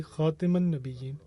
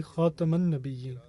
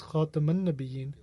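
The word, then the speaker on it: خاتم النبيين: my sons to say Khatiman Nabiyyin, rather teach them to say Khataman Nabiyyin. In other words, with a fatha, a diacritical mark above the letter ta, as opposed to a kasra underneath it.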